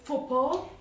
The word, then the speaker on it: faux pas: Oh, how you say faux pas?